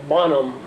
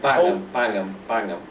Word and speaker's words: Bangham: I probably will pronounce the name wrong, but Bonham of the... Bangham. Yes. Bangham also, of course, was there.